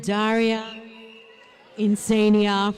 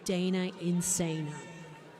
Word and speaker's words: Dana Insana: I have been pronouncing your name wrong, and she has given me the heads up. So it's Dana Insana.